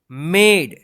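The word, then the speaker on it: made: जी ओडी गॉड हैज मेड इसको मेड मत पढ़िए एम ए डी ई मेड last वाला जो ई है ना यह साइलेंट रहता है ठीक है सो मेनी गुड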